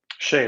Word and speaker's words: Shea: Is it pronounced Shea? Shea, that's right.